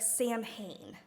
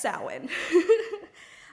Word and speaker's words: Samhain: The word Samhain is kind of confusing because if you say it how it's spelled, it would look like Samhain. But it is pronounced Samhain.